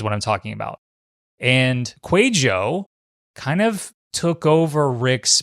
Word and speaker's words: Kwadwo: in a specific area his name is quo all right just like it spells no not exactly like it spells kind of like my name jacqu it's not how it's spelled quo is a Facebook